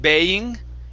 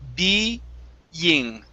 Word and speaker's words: being: Instead of baying, it's being. Being.